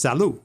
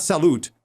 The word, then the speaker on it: salut: understand this before but in French typically the last letter of a word is not pronounced right so si lut is pronounced salut it's not salute its salut but isn't it salute